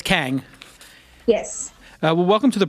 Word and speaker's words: Kang: Did I pronounce it correct, Arum? Yes. And it's Kang.